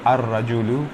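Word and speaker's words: الرجل: किया जाएगा अलबक अलकदू लेकिन यहां पर जो रा है रजन का वो रा क्या है रूफे शमसी में आता है ठीक है तो ये ला में तारीफ प्रोनाउंस नहीं किया जाएगा सीधे अलिफ से रा पर आएंगे और रा दो बार पढ़ा जाएगा इसलिए यहां पर तसदी आ जाएगी तो अर रजु हो जाता है ठीक है मसला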